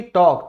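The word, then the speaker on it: talk: बात करना यानी कि टॉक, तो ए के बाद क्या आया, एल साइलेंट हो गया।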